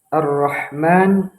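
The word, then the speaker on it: الرحمن: Nah, kesalahan yang sering kita temukan di sebagian orang yaitu pada huruf ha arrahman arrahim. Kita menggunakan huruf ha kecil bukan huruf ha besar.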